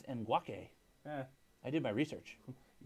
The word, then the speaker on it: Ngakoue: We've been saying it wrong the whole time. What were we saying? We said Ngakoue. It's Ngakoue.